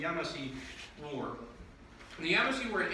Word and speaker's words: Yamasee: And I've heard this pronounced 1,000 different ways, but I've been told the most correct way is the Yamasee War.